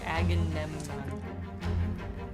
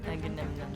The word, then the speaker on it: Agamemnon: Agamemnon. Agamemnon. Just make the same sound you make when you like eat a peanut butter jelly sandwich. Really fast. Nom, nom, nom, nom. Lafayette and Galahad. Agamemnon.